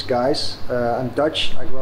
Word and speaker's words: Gijs: yeah so my name it looks a bit strange but the best pronunciation is guys uh and dutch i